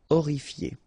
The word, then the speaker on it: horrifié: Horrifié. same thing here, you don't pronounce the H. Horrifié.